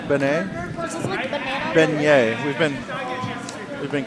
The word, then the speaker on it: beignet: just kidding the names beignet we've been we've been corrected that it's beignet so it's like my name and then yay yeah it's perfect that's